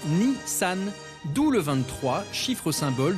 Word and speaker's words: Nissan: Au passage, les chiffres 2 et 3 se prononcent Nissan, d'où le 23, chiffre symbole d'une marque née en 1923.